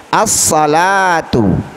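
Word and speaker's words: الصلاة: As-salatu, as-salatu, ya, termasuk huruf syamsiyah. Alnya tidak boleh dibaca dengan jelas.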